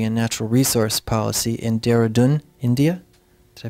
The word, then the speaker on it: Dehradun: for Science, Technology, and Natural Resource Policy in Dehradun, India. Did I pronounce that correctly?